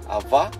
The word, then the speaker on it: avó: Avó. Avó. Avô. Só. É mulher. É. Homem é o quê? Avô. Mulher. Avó. Mesmo. Avô. Avó. Soa como você está pronunciando A e O ao mesmo tempo.